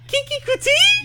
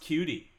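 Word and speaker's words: Keke Coutee: I think it's pronounced cutie. I have to say it. I think it is. You can correct me from now to the end of time, but I'm saying Kiki Kuti.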